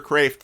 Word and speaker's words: Kreeft: Peter Kreeft said someone some of those who know Dutch say you ought to at least say it like a Dutchman so Peter craved for those of you